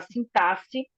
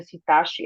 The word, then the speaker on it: sintaxe: sobre a semântica a sintaxe né não não se pronuncia sintaxe é sintaxe o x com som de s e a morfologia aí